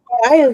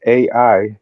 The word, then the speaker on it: Ai: There's a king Ai and it's not pronounced AI. It's pronounced I, but King Ai.